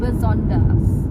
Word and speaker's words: besonders: Ini kalau kelihatannya cara bacanya itu seperti yang tertulis besonders, tapi kan intonasinya agak berbeda sedikit gitu. Jadi harus disesuaikan, besonders.